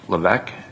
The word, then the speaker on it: Levesque: My name is Lc. L E V S Q U E the S is silent and uh you just